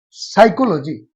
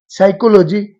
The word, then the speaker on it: psychology: लेकिन जैसे एक एग्जांपल, साइकोलॉजी, PSYCHOLOGY, साइकोलॉजी, इसमें पी साइलेंट रहता है, लुप्त रहता है, इसका उच्चारण साइलेंट रहता है, इसका उच्चारण पी साइलेंट रहता है।